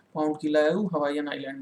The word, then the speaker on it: Kilauea: उसका नाम आप नोट कर लीजिए, किलायाऊ। यहीं पर है, मतलब हवाईयन द्वीप में ही। स्पेलिंग इसकी आप लिख सकते हैं, मैं यहाँ लिख दे रहा हूँ, KILAUEA, किलायाऊ।